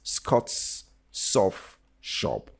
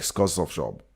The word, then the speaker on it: Scott's Soft Shop: It's Scott's Soft Shop. Don't make them one word like Scott's Soft Shop.